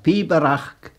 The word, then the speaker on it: Pibroch: The word Pibroch itself, Pibroch, three syllables, is garlic for piping, any piping, not just the kiln mow.